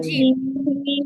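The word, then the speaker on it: جيم: জিম না আপু, জিম হবে না, আপনি জিহ্বার আগা থেকে উচ্চারণ করতেছেন, এটা হবে জিহ্বার মাঝখান থেকে।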